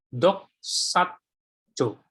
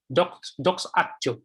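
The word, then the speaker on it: δοξάζω: Di dalam Roma pasal 8 ayat 30 ini, kata mulia di dalam bahasa aslinya disebut sebagai doxajo. Doxajo. Ya. Jadi pembacanya doxajo.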